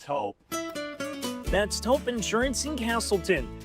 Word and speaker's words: Toop: Say it right. That's T-O-O-P. That's Taupe. Oh, it's Taupe.